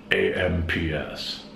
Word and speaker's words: AMPS: numbers for phones back then were only nine digits and the phone system was called amps amps an acronym because you pronounce it like a word which stands for advanced